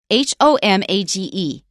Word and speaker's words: homage: how do you say h o m a g e uh I always say homage that's right and now they still leave the H off but they say homage